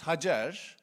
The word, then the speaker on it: Hagar: Hagar is that right? Hagar we in Turkish it's Hajar.